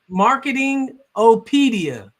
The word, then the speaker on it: Marketing Opedia: It's Marketing Opedia. Opedia, that's the way like it's spelled. Just like encyclopedia.